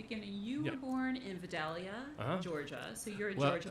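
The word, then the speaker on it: Vidalia: back to the beginning you were born in videlia Georgia so you're a Georgia boy I have to tell you okay the regional correct pronunciation v v v yes yes yes it's true yes viia I'm such a northerner that's just music to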